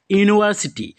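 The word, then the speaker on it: university: to join dash ইউনিভার্সিটি ইউনিভার্সিটি ইউ উচ্চারণ হচ্ছে গতিকে ইয়ার আগত কি হব এ হব কারেক্ট আনসার অপশন এ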